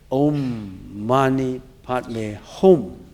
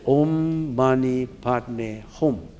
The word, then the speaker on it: Om Mani Padme Hum: And that mantra is an ancient mantra, and the way we pronounced it is Om Mani Padme Hum. Do you see the pronunciation? Om in Sanskrit. Om Mani Padme Hum.